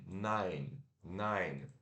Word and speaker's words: nine: curto n a i nine nine igual não em alemão e depois temos o